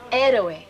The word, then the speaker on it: héroe: How do you pronounce it in Spanish, Mary? Héroe.